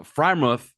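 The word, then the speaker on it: Freiermuth: good wide receiver I always pronounce this guy's name wrong but uh freimuth that's right yeah is at least top five-ish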